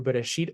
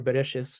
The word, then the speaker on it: Bereshit: Okay, so it has the names of the five books of Moses, which is in Hebrew Bereshit or Bereshis. This is the Ashkenazi pronunciation.